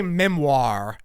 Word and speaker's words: memoir: like 20 comments about the way I said memoire okay out of like they weren't coming about the bad things but they were like it's actually Memoir I'm like well good thing I'm not French bro it's mire I'm American I say wire oir bro oh my gosh here in Missouri we say Memoir it just depends on